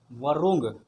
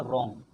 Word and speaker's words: wrong: तरीके से क्या बोलेंगे, वरुंग। लेकिन इंग्लिश ग्रामर कहता है कि नहीं, इसको वरुंग नहीं, इसको क्या पढ़ेंगे, इसको पढ़ेंगे रोंग। डब्ल्यू साइलेंट हो जाएगा, आर ओ एन हो जाएगा रोंग, यानी कि इसको हम पढ़ेंगे रोंग।